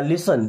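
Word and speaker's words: listen: दोस्तों यहां पे टी साइलेंट होता है ना इसे लिसन नहीं पढ़ना। लिसन क्या?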